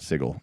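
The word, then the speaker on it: Sigil: Like if you start your campaign in the lower ward, you want to be on this channel and call it Sigle. You have to pronounce it.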